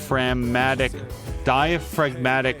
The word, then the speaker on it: diaphragmatic: I follow the on-screen instructions and begin diaphragmatic breathing. No, there's no, the G is silent. Because diaphragm, right? Diaphragmatic breathing.